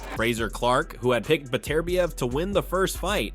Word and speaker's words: Beterbiev: I had Beterbiev, whatever I don't know how to pronounce it nowadays. Beterbiev, yeah.